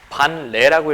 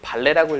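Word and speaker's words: 반례: 근데 저걸 반레라고 읽어야 되니 발레라고 읽어야 되니 발레가 맞겠지? 발레가 맞지? 국어 시간에 그렇게 배우지 않니? 연음인가 이게?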